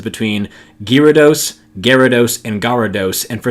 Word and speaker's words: Gyarados: episode Oh Gyarados the Y here is silent which most people pick up on pretty quickly but due to the